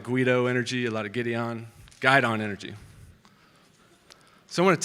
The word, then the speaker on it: guidon: most commonly asked questions is, what is a guidon? Very commonly mispronounced. Any of those who didn't serve in the military, every group has a flag bearer, and that's called the guidon.